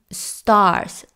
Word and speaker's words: stars: the Stars the Stars ese símbolo es cuando ponemos la boca como si fuéramos a decir la o pero sale la a a Stars Stars es como decir not not Stars Stars Okay entonces repasemos Fly